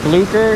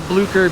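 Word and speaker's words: Bloucher: It is Blucher, B-L-O-U-C-H-E-R, Blucher or Blucher or Blauscher, however you want to pronounce it. Probably that way.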